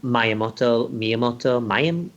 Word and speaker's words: Miyamoto: Yeah, I mean, like, famously, one of their games, which, we're going to look at later, when Miyamoto, how do you pronounce it?